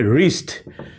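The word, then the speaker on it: wrist: কিন্তু আর আছে সো এখানে ডাব্লিউ টা কিন্তু সাইলেন্ট হয়ে গেছে এখন আমরা বলতেছি রাইট ঠিক একই রকম ভাবে রিস্ট রিস্ট দেখো ডাব্লিউ এর পরে আর আছে সো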